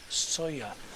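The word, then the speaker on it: Sóller: here on majorca in sawyer spelt s-o-l-l-e pronounced sawyer on my way back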